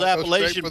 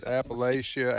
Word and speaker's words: Appalachia: Well, you know how those Appalachian boys are.